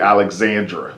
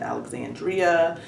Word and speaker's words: Alexandra: Okay, so I called you by your nickname, but your name is actually Alexandra. Correct. That's the correct pronunciation.